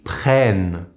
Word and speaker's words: prennent: For the last one, with the plural il or they in English, the double n followed by the silent ent will turn into the sound n. This is why we say ils prennent.